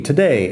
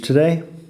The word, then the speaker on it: today: En fin, today es hoy. Do you want to go to the beach today? Así de sencillo. Fíjate que se acorta un poco today, no es today, today, un poco más corto.